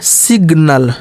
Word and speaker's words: signal: अब यहाँ जी साइलेंट नहीं होगा, अब जी का यहाँ पर उच्चारण होगा। क्या होगा, सिग्नल, सिग, देखिए जी का उच्चारण होने लगा, क्यों, क्योंकि यन के बाद जो है और भी लेटर आने लगे।